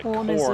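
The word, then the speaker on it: Khorne: i keep hearing uh corn is spelled k-h-o-r-n-e yeah and so everybody's making the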